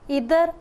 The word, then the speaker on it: either: और इसी तरह जो कोरिलेटिंग, ये कॉम्बिनेशन ऑफ टू कंजंक्शंस होता है, जैसे इधर और नीदर नॉर, और आइदर और नाइदर नॉर। आप दोनों तरह से इसको प्रोनाउंस कर सकते हैं।